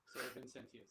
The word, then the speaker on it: Vincentius: Okay, I think I had the wrong emphasis on the syllables. Nah, it's all good. Sir Vincentius. Sir Vincentius, yes.